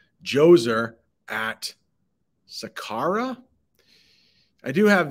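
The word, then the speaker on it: Djoser: did look that up it's basically the D is silent Jose at Sakara I do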